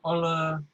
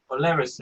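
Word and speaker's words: Olerasay: So I'm drinking this wine here, which is how do you pronounce this? Oleracé. Oleracé.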